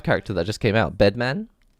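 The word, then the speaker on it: Bedman?: And it just reminded me so much of the Guilty Gear Strive character that just came out, Bedman, or Bedman, as it has to be pronounced officially.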